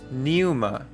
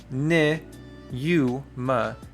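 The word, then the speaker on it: πνεῦμα: The P or the pi right here becomes silent. And so, we have pneuma. Now, notice this right here, these two vowels in a row do not create a diphthong. So, it is ne u ma, neuma or pneuma, which is spirit.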